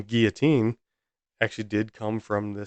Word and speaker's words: Guillotin: any at the end I believe it's both pronounced Guillotine if I'm incorrect about